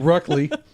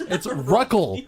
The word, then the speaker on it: Ruckel: Not Ruckley. No, it's Ruckel. Ruckel. It's not Raquel.